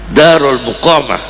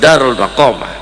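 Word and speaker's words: دار المقامة: Ya, darul muqomah. Ahallana darul muqomah bukan darul maqomah ya.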